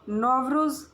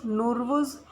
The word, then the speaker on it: Nowruz: नॉर्वस नवरोज़ नवरोज़ नवरोज़ नूरवुज़ nervous and नौरिया, इनका मतलब क्या है? न्यू डे। इसका जो स्पेलिंग है, ये प्रोनाउंसिएशन है, it varies by the country. So Nowruz, it marks the first